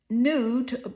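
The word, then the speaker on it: Nut: Um, nude pronounced it.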